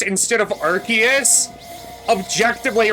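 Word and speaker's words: Arceus: I will say people who say Arus instead of Archus objectively wrong because when you're in Legends Archus, you're given something called the Ark phone.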